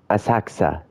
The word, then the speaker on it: Asakusa: Asakusa. So the U is silent. I noticed that a lot of Japanese words and names have the U silent like that.